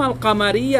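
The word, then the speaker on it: القمر: যেভাবে নাকি আশামস আপনি আল শামস বললে ভুল হবে, বলতে হবে আশামস, কিন্তু কামারের কাছে গেলে কি বলতে হবে? আল কামার।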